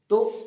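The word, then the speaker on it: ت: তা তা উচ্চারণ করার সময় দেখবো যে আমরা জিভেটা দুটো দাঁতের সামনের দাঁতের তলে চাপ খেয়ে উচ্চারিত হচ্ছে তা। উপরের দাঁত জিভের আগার উপরে চাপ লেগে তা উচ্চারণ হচ্ছে।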